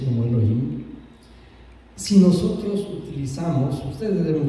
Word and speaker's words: Elohim: escrito aquí, y en hebreo es Elohim, se pronuncia como Elohim.